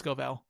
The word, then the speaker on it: Scovell: I pronounced it Scoville before, but it's Scovell.